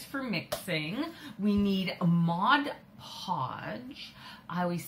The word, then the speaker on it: Mod Podge: I always want to say Modge Podge.